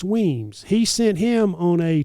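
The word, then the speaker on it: Wemyss: But it's pronounced Weems.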